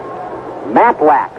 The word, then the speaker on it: Matlack: move is back easily John matlack has easily the most mispronounced last name in baseball like one out of five people get it right or outside Matt lack m-a-t-l-a-c-k you hear it every other way 1-0 the stretch toss